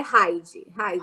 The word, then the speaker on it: Heid: É Hyde, igual mata todos os insetos, não tem?